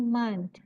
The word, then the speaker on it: month: Bacanya month. Ada tehnya, month.